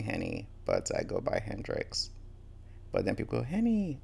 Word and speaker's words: Hendrix: Cuz when I say my name is Hrix, it either goes two ways. Oh, like Jimmyi Hendris. Or oh, like the gin.